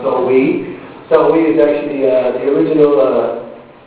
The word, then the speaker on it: Samhain: Halloween actually has a which is, so it's originally named Samhain, it's spelled Samhain, but pronounced Samhain.